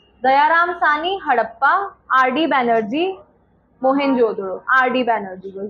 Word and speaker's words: मोहनजोदड़ो: इट्स मोहेनजोदारो नहीं, इसको हिंदी में भी मोहेनजोदड़ो बोलते हैं. मोहेनजोदड़ो की किसने खोज करी थी, डिस्कवरी? सरनेम याद रख लो, बैनर्जी नाम था। दयाराम सानी हड़प्पा, आर.डी. बैनर्जी मोहनजोदड़ो, आर.डी.